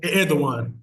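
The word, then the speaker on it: Erdoğan: even though er uh I forget how you pronounce his name the president of Turkey Ed Ed like that Ed Edan thank you I appreciate that Edan thank you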